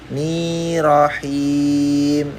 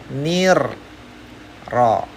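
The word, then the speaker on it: الرحيم: Nah, ni ro ni rahim ya. Ini salah ya. Hati-hati yang benar apa? Ini kelihatan ya sudah ada r atau ro ada tasydid doble jadinya bacanya nir ro ya.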